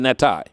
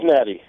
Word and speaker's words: Natty: And, am I pronouncing your name correctly? Natty, or is it Natai? Yeah, it's Natty.